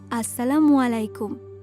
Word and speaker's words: আসসালামু আলাইকুম: সাফা না না বাবা আসসালামু আলাইকুম। সঠিকভাবে যদি তুমি সালামের উচ্চারণটা না করতে পারো তাহলে সালামের অর্থটাই বদলে যাবে।